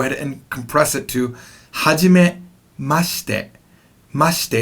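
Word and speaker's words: はじめまして: is going to be Hajime must it Hajime must it now that she near the end is not pronounced fully it's kind of compressed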